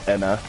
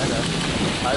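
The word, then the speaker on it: Ana: Her name's spelled A-N-A, but it's pronounced Enna. Like it has an E instead. Oh, Enna.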